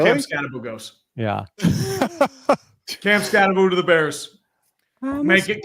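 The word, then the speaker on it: Skattebo: The people talking to him were calling him Scataboo. Scataboo. Where's the other O?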